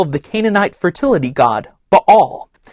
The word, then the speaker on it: Baal: the Canaanite fertility God B all which you may have heard pronounced baale talk about a holy